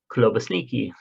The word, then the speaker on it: klobasniki: the past year should be called klobasniki, klobasniki, pronounced klobasniki.